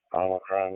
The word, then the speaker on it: Omicron: they made reference to Omicron, which that's the right pronunciation.